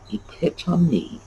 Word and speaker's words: epitome: essence of something uh if you know that that is greek you know that every syllable has to be pronounced epitome and there you go